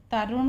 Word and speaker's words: तरुण: तरुण पढ़ेंगे, ये यहाँ पे टी का उच्चारण ता के रूप में होगा।